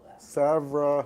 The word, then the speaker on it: Savonarola: It's It's based on the monk of the 15th century whose name is pronounced Savra Ronola. Right? No? Pronounce it for me. Savonarola.